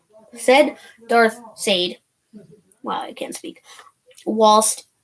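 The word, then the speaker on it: Syde: So his name is spelled S-Y-D-E, but it's pronounced Sade. Sade.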